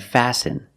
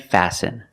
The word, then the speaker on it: fasten: And fasten. Example, fasten your seatbelt. Fasten is a verb, and the T is silent.